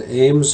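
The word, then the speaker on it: AIMS: co-pilot know about and it's on Ames rack that's spelled a-i-m-s Ames rack C on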